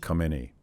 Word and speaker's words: Khamenei: question of liberal democracy the current supreme leader had pronounced Khomeini Khamenei come any as and some of us who are would confuse khomeini yes come any but his and I